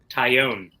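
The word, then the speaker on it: Taillon: Tyone. Tyone. The L's are silent, correct. Tyone. As It'd be opposed to harder to Talon. say it, to mispronounce it. Talon? Well, you could say Talon. No, it's Tyone.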